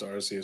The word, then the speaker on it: Arceus: playing uh pokemon legends arceus at the moment i haven't picked up anything is it the arceus because i still pronounce rc so i'm with you